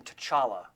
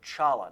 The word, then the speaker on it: T'Challa: another character to say, my name is not pronounced T'Challa. He said, the T is silent. So Chala.